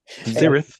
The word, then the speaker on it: Sarath: Your mom named you Sarath. Zerith. H is silent.